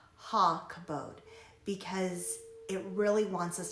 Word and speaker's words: Hakabodh: In this case, it says that it's rarely just a standalone kabod, so that's why it's pronounced Hakabodh, because it really wants us to understand that it means glorify, glorious, honor, splendor.